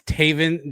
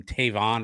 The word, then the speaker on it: Taven: It's Taven Jackson. I think you pronounced him Tavon earlier. Taven Jackson is his name.